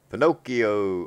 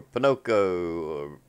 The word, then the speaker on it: Pocono: is going to be Pinocchio or Pinocchio Pocono however you want to pronounce it it depends on where you're from in the South the north or in the middle we're gonna be there